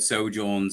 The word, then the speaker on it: sojourn: it's a silent J, by the way, so it's pronounced sojourn.